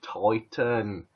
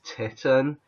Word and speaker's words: Titan: this is septic flash titan and some people have pronounced this titan this has nothing to do with the female breasts nothing to do with tits people pronounce it titan